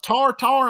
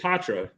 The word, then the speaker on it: Tatra: They were or is it the Tartar or is it Tatra? Tatra. That sounds right.